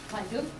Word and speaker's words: Feigl: Feigl, yes.